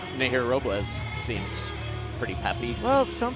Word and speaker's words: Robles: Fighting out of San Juan, Puerto Rico, La Chica de Hola, Hola, Nahir Robles. See, I was going to tell you guys, you got to roll your R, but Shane did it for you, so And we're her good.